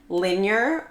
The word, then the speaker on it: Linjer: So it is pronounced Linjer or like linear.